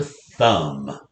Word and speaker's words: thumb: dictionary spelling of thumb thumb ends with a silent b so we're going to